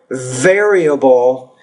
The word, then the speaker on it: variable: so you want to pronounce the word variable variable the V it almost sounds like a B for you so variable for example studying geography makes